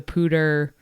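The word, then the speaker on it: Poudre: one weird and two it's spelled P O U D R E. So please someone explain to me how that comes out to pter.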